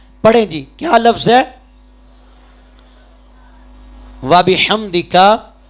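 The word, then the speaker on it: وبحمدك: ہم جلدی جلدی پڑھتے ہیں سبحانک اللہم و بحمدک، نماز میں بھی یا نماز جنازہ میں بھی، تو یہ طریقہ غلط ہے، تلفظ غلط ہے، اس سے ادائیگی نہیں ہوگی.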